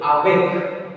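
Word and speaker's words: avec: So this word is made of how many syllables? How many syllables? Two syllables. So after which letter? After a. After? A. Yes, because these place between two vowels. Yeah. So that's why. See, a is followed by a consonant with the same syllable. So a will be pronounced a. Awek.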